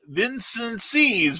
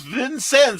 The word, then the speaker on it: Vincennes: pronunciations people can't pronounce people can't pronounce vincennes then says then c then vincent sees vincennes is how we say well you know